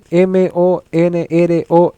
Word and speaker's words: Monroe: Se llama doctrina, se escribe Monroe. ¿Ya? Monroe, Monroe, como la Marilyn Monroe.